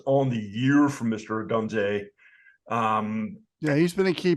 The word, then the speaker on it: Odunze: Rome Odunze. I'm probably not pronouncing that.